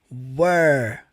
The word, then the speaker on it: were: com o é com e som do e were você vai falar assim ó primeiramente were were